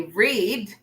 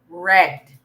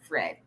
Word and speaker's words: read: read we don't say read we say red although it is spelled as read just like the one on the left it's actually pronounced as red okay so you see